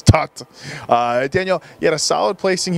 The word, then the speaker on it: Toth: though it's T oth guys it is not pronounced Tov it's tucked Daniel yet a solid placing here last year